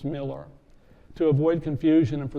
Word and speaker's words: Millar: Miller is spelled with an A, not an E, but is pronounced Miller.